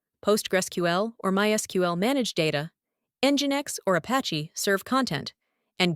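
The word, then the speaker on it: NGINX: The term LAMP is an acronym that represents L for the Linux operating system engine X pronounced as engine X, hence the E in the acronym.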